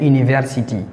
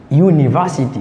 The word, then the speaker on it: university: ça directement en français university mais pour la bonne prononciation en anglais le il a sévi your view ça devienne coin university la prononciation c'est comme ça yoon young university voyait dans ici dans